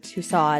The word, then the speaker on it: Tussaud: those thanks for listening Madam tuso or Tusa as some pronounce it was born anamarie gholz